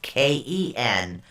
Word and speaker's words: Kenaz: Okay, it's spelled Kenaz. It's actually pronounced Kenahz.